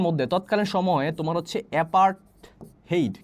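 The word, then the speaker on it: apartheid: আচ্ছা দেখো তো, এই যে অ্যাপার্টহেইড যে, দেখো এটাকে তোমরা উচ্চারণ করবো হচ্ছে অ্যাপার্টহেইড মানে বর্ণবাদ।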